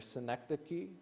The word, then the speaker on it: synecdoche: And it's what scholars would call a I'm going to I'm going to mispronounce it. I practiced it before I came in here. Synecdoche, right?